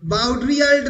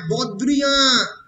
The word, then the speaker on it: Baudrillard: যা বাউড্রিয়াল্ড নয়, বদ্রিয়া, BAUDRILLARD উচ্চারণ হবে না, তাহলে জাক, ফ্রেঞ্চ জ্যাকুস